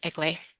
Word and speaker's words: Eglee: it's a long story it's a Greek name um it's pronounced elay and and I'm a palative physician in Calgary Alberta Canada and most importantly I'm a logootherapy student under Dr.